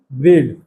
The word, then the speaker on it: braid: AI का जो pronunciation होगा ना, लॉन्ग ए की तरह होगा। जैसे ब्रेड, जैसे मेड होता है, जैसे पेड़ होता है, उस तरह इसमें भी ए का मात्रा है।